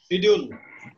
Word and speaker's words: schedule: Schedule is British pronunciation. Schedule is American pronunciation.